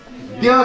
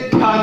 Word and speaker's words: द्य: इसका उच्चारण कृपया कृपया प्रार्थना है आप लोगों से, द्य कीजिए, ध्या नहीं।